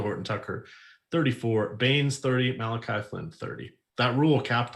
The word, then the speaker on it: Malachi: fantastic well his name's not it looks like malachi but it's pronounced malachi i still enjoy that i would ever say